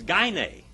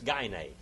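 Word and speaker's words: γυνή: did like calling a woman a goonie it's gay nay all right those those uh german uh greek scholars pronounce the greek gunai but it's not gunnae it's gainey and we get our word gynecologist from that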